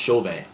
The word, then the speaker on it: Chauvin: think that's his name how it's pronounced chauvin that's how we pronounce it here i will uh chauvin